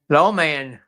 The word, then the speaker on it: Lawman: Lawman. Law, like in the law, He's a lawyer.